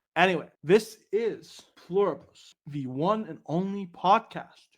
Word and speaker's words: Pluribus: For the sake of convenience, we're pronouncing it with an I. Anyway, this is Pluribus, the one and only podcast, your go-to spot for all things related to this series.